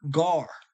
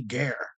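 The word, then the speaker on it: גר: They're going to say ger. Strong's H 1616. Gar. Gar. Okay, they pronounce this one right, gar. But there's no E's in Hebrew. That's what I was explaining to the one guy in the comment board. There is no E.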